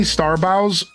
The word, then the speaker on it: Starbows: You can call me Starbows with bow as in take a bow, but it's more like bow as in a gift bow.